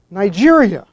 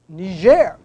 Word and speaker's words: Niger: even pronounced Niger but ner having been a French Colony not colonized by the British as was Nigeria it